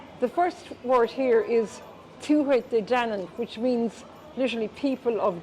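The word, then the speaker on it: Tuatha Dé Danann: The first word here is Tuatha De Danann, which means literally people of Dana.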